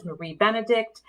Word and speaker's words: Marie Benedict: Yes, I know everyone thinks it's pronounced wrong, but it is Lady Clementine, and it is Marie Benedict.